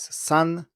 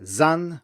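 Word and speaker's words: 三: three in Mandarin is sun and it's pronounced with an unvoiced S and if you were to say zan with a vo s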